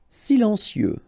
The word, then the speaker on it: silencieux: Silencieux, final X not pronounced.